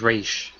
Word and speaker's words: Ra's al Ghul: I usually pronounce it Ra's al Ghul. Yeah, it's Raish.